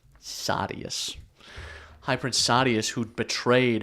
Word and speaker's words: Sadeas: to High Prince Sadeas, which I found out is pronounced Sadius from the audiobook, but I think that's stupid. Sadeas.